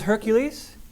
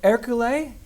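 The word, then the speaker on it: Ercole: to say this a lot his name was Hercules but that's not how you pronounce it it's called erule called erule so uh he was the the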